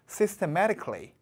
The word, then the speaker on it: systematically: 자, 이 단어 좀 발음 좀 따라해 보실게요. systematically.